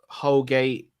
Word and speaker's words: Holgate: up and foul jotter holgate i mean his name rhymes with colgate that's the best i